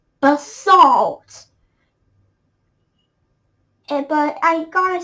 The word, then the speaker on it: basalt: the british pronunciation but by the way it's bust salt all right not basil basalt but i gotta say